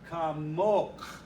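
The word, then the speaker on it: כָּמוֹךְ: But the feminine, the accent's on the last syllable, and it's kamok.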